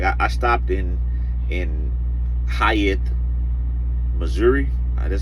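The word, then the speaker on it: Hayti: Maybe like that Saturday morning, I only had like, I stopped in Hyatt, Missouri. That's how you say it, Hyatt, Missouri.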